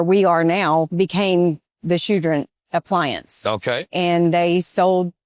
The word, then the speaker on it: Choudrant: I'm here today with Tina Wise at Choudrant Appliance in Choudrant, Louisiana.